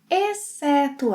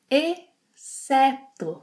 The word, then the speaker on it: exceto: Our options are todos, exceto a Maria, comem arroz e feijão todos os dias.